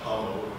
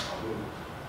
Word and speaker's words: Pamu: It's not Pamu, by the way, it's in fact Pamu.